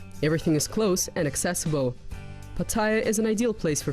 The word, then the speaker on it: Pattaya: By the way, the correct way to pronounce the name of the city is by stressing the last syllable, Pattaya.